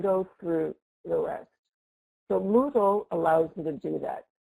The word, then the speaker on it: Moodle: So what is Moodle? You know, it's a really weird name, right? But it rhymes with Google, and it came before Google.